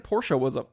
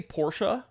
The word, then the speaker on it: Porsche: I say Porsche. I also don't care about people pronouncing it Porsche.